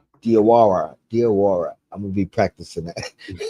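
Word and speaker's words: Diawara: Dawara. Diwara. Diara.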